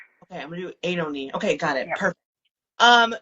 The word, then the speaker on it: Oenone: You're very close. It's Oenone. Oenone? Yeah, or Ione. Like, it just depends on what you choose to emphasize. Okay, I'm going to do Oenone.